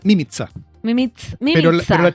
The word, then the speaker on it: Mimica: Se pronuncia mimiza, se pronuncia, en verdad se pronuncia mimza. Mim, mimiza, pero pero la chilenización es mimiza y se escribe mímica. Entonces es todo complicado. Igual se puede decir mímica y no pasa nada, ¿verdad?